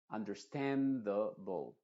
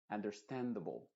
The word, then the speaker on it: understandable: Understandable. Understandable. Tanto la A como la E de ble se está pronunciando como schwa. Understand the bowl. The bowl. Es decir, no abras tanto la boca.